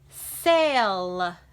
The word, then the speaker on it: sail: Okay, now that was a tricky one because the A doesn't completely say A, but the sound is kind of changing. Say, it's not really saying ah, but it's not really saying our name either.